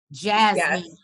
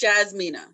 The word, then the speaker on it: Jasmina: we have miss yes is am i saying it right i keep wanting to call her jasmine it's jasmina jasmina and michael is it